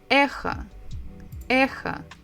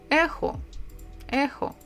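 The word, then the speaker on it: эхо: ways are completely correct so don't worry if maybe you sound slightly different from me Echo or ejo both are fine next one this is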